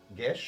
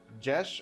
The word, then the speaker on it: geas: Someone definitely knows who can pronounce my mind says like gish. Gish. Oh, that's interesting. Gish is it? Is it gash or no? Probably gash. Yeah, gash.